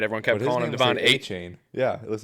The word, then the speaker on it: Etienne: And then he's like, it's actually A-Chan. And everyone's like, but it's A-Chain. Yeah. And he's like, no, it's A-Chan. But now now Etienne is coming out saying his name's pronounced A-Chain.